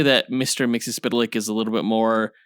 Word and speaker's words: Mxyzptlk: I think I'm saying Mixie's name right. I've heard it a number of different ways, but that's the pronunciation I remember from the Superman90s cartoon in which Mixie made a few appearances voiced by Gilbert Godfrey.